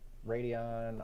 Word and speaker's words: Radeon: you say it right radio yeah yeah right radeon r7200 oh yeah i've got one a little